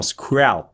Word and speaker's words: Squelp: Ok, c'est comme ça qu'on prononce son nom, Squelp.